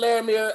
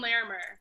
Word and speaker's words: Larimer: How is it pronounced? Lawrence and Larimer. Larimer.